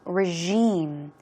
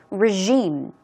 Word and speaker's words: regime: here regine regime regime actually it's j j sound as you see so it sounds more like regime okay two more times regime regime it's like a ruling